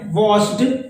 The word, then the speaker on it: watched: हमने ईडी लगा दिया, बट प्रोनाउंस करते समय हम उस पर इंसिस्ट, यानी उस पर दबाव नहीं डालेंगे, वो साइलेंट रहेगा।